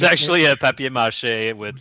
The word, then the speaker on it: papier-mâché: It's actually a papier-mâché with like the baking soda.